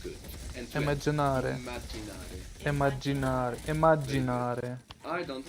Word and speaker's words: immaginare: Now imagine has two M's in Italian. You will pronounce those both.